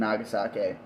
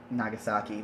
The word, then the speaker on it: Nagasaki: do not see the bombings of Hiroshima and nagasake which I Nagasaki wow I hate myself so